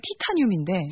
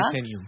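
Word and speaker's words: Titanium: 근데 이제 우리나라식으로 하면 티타늄인데. 티타늄. 네, 타이타늄이라고 읽어야. 타이타늄.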